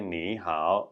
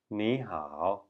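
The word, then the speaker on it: 你好: 3rd tone rule so if there are two third tones after one after the other the first one is actually pronounced like a second tone that's why we don't say nee how we say Neha so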